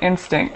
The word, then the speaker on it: instinct: somebody said very good Instinct so so this word is pronounced similar to extinct make sure to pronounce that c at the end Instinct and extinct they